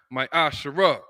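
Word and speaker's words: מעשר: numbers 18:21 Malachi 38-10 means 10th in Hebrew which is pronounced my Asar 10% of every penny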